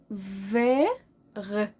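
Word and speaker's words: vert: بلو اسود نواغ اخضر في غ في غ في او في في غ طب والتي لا التي هنا سايلنت مش هنطقها فيغ هكتبها ومش هنطقها فيغ اخضر فيغ اخضر فيغ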